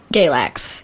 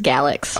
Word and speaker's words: Galax: place I've ever heard is that how you call it Galax Galax sorry literally everyone that's not for him there says galaxy also I might have